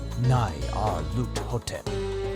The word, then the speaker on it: Nyarlathotep: The director of the museum pronounced it as Nyarlathotep.